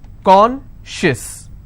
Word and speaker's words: conscious: not apply here okay conscious how many syllables do i have two and i will stress on corn con schis okay precious how many